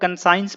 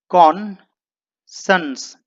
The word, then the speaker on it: conscience: इसे कई लोग कंसाइंस पढ़ लेते हैं। दोस्तों इसका एक्चुअल प्रोनाउंसिएशन होता है कॉन्सन्स, यानी कि कॉन्सन्स।